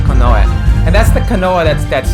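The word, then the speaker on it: 近衛: You would think it would be pronounced Kinye, right? Just looking at the kanji, you think, oh, this is Kinye, right? But no, it's pronounced Konoe.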